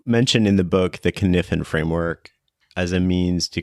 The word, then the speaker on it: Cynefin: And Kniffen itself means sort of those things that come together to make a place a place.